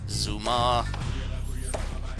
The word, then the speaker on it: Zuma: Zuma. It rhymes with skooma.